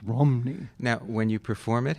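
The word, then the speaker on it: Rhymney: And she went on to tell me the RHY sound in Welsh is pronounced like ruh, like a U, you know. So it's not Rimney, it's Romney.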